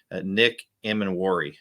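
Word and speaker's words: Nick Emanwori: names are, and I don't like it when someone mispronounces my name. So I was trying to slow myself down there. Nick Emanwari.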